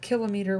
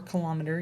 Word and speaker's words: kilometer: if we had a kilometer or kilometer either pronounciation is acceptable a kilometer or a kilometer if we had one